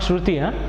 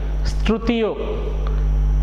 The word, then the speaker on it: Struthio: It's not Shruti, Strutio.